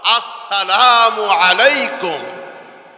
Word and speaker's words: আসসালামু আলাইকুম: এই জন্য সালামটা শুদ্ধভাবে দিব আমরা, আসসালামু আলাইকুম।